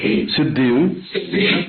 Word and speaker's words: सिद्धि: ओ श्री धनदा यक्षण सिद्धि देही नम इसम एक थोड़ र ग सिद्धि बिंदी होनी चाहिए सिद्धि ऐसा बोलना है सिद्धि सिद्धि लिखा सिद्धि